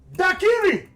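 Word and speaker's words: daiquiri: let me tell you for free. Dakiri is the correct pronunciation. But UI is the correct spelling.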